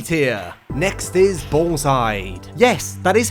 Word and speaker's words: Balls Hide: Next is Ballside. Yes, that is how you say it, YouTube comments. Ballside.